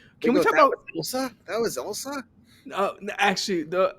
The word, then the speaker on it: Ilsa: Ilsa, not Isla.